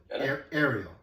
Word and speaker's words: Ariel: Ariel. Ariel, okay. Good. She sent me a link to a podcast with Josh Linkner when he pronounced it. Okay, Ariel.